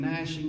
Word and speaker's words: gnashing: be the weeping and gnashing of teeth. And gnashing is spelled G-N-A-S-H. And Nashville sounds the same way, but it's just N-A-S-H.